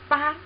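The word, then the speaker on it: 八: So this character is pronounced ba ba and the meaning is a number eight ba.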